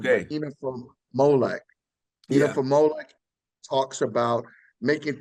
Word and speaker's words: inafa'maolek: So tomorrow values, there's a word called, and please don't kill me with my pronunciation, but Okay. inafa'maolek.